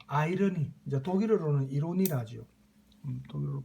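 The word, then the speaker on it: Ironie: 그래서 이 유머러스한 어떤 내용을 항상 작품 속에 포함을 시켰고 또 아이러니, 이제 독일어로는 이로니라죠. 독일어로 발음하면 이로니, 우리 보통 반어, 그죠?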